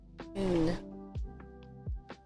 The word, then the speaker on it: un: Un. There you go. So it sounds like the letter oo sound in American English, like two. I want that too, but they have a particular pronunciation, so un.